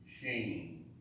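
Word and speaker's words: שׁין: Well, this word is is called seen or sheen. Both of them. That one. You have your choice. It's either seen or sheen. It's an S sound.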